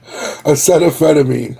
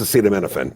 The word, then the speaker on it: acetaminophen: should menophen acetaminophen acetaphetamine right isn't how you say it acetaphetamine it's acetaminophen yeah yeah so